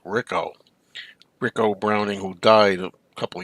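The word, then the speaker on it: Ricou: would be ricko Browning ricko looks like Rico but I think he pronounced it Rico Rico Browning who died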